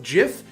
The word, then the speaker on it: GIF: that this this matters both ways of pronouncing the word both jif and gif and guyf all perfectly valid ways to say that word writing a research paper